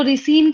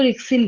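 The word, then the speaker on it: ricin: पे कई लोग इसको रिसिन कहते हैं और कई लोग इसको रिक्सिन कहते हैं। रिसिन। प्रोनाउंसिएशन कई लोग इसको राइसिन कहते हैं।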